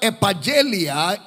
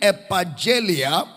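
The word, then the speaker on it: ἐπαγγελία: I will I will I will the word epigelia in the Greek epigelia and it is spelled as EPA double g e l i a l-i-a epigelia what Paul will call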